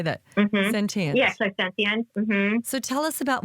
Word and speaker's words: clairsentient: Yeah, clairsentient.